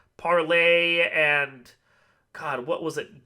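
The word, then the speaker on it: Parler: __ ] ones yeah spell parlor pronounced parlay oh is it really yes it is a reason it's pronounced parlay um so this is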